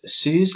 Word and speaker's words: SUSE: Again, there's SUSE Linux, I believe that's how you say it, free tier eligible.